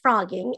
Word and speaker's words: phrogging: living in another person's home the word is pronounced frogging and it gets its name because frogs as